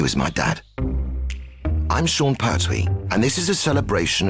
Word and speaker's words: Pertwee: My real name is Jon Pertwee de Laillevaux, but nobody pronounced the name Pertwee because it was spelled P-E-R-T-H-O-I-S, so the illiterate English pronounced it Pertwis. So it was changed to P-E-R-T-W-E-E, and now they pronounce it Pee-wee, Petwit, Pardony, Pastwit, and anything else.